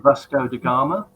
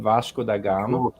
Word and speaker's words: Vasco da Gama: Vasco da Gama.